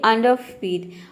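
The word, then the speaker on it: underfeed: बोलेंगे अंडर फीड अंडर जब आप र को पूरा र बोल देते हैं तो इस तरह से आपका जो प्रोनंसिएशन है वो रॉन्ग हो जाता है तो आप क्या करें इसको साइलेंट रखें आपका प्रोनंसिएशन 100% करेक्ट होगा पूरा हो जाएगा अंडरफीड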